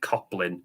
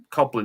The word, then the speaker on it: Coblyn: I think that if you Google Coplin, there's a lot of different interpretations. But if you spell it out, it's Coblyn. So very similar to goblin.